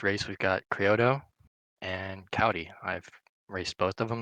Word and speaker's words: Kouty: How do you Kouty. pronounce that?